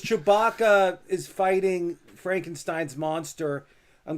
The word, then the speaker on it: Chewbacca: Chubara? Is that right? Oh, you don't know Chewbacca from Star Wars? Oh, Chewbacca.